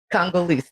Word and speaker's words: Congolese: Congolese.